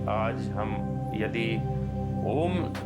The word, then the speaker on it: ओम: उतार आराम से हो और शुरुआत आ से हो। ओम ऊ से नहीं होता, आ ऊ ऐसे इसका उच्चारण होता है।